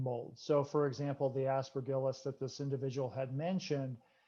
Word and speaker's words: Aspergillus: Woeller, the first question is from a parent who says, what is the best treatment to eliminate the mycotoxins produced by Aspergillus? I hope I pronounced that correctly.